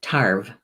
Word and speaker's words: tarbh: deliver a message and the gaelic pronunciation of ball I believe is tarp but let me let me double check yes tarp and it's a very